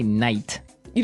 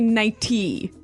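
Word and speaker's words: nightie: but you don't say night you don't say nighty you say nighty yeah you you make the t a d nighty now she offered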